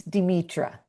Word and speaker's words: Demetra: Tell me how to say it properly. It's Demetra. Demetra. Nice to see you.